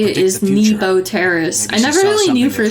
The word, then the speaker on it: Nebo Terrace: contract that is how you say it is Nebo Terrace I never really knew for sure how to